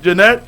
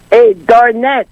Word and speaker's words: Darnette: YES, uh Janette, let's have you uh you have a pen and paper to schedule your pick up next week. uh Darnette, you called my name wrong.